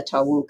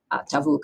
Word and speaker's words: tavuk: little bit earlier than the tauk I guess tavuk I should use correct pronunciation um the last one